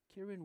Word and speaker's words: Ciaran: His first name is spelled Ciaran. Kieran Walsh, a senior.